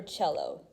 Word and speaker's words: cello: violin and c for cello this word here yeah that's how you pronounce it cello not cello it's uh italian all right so she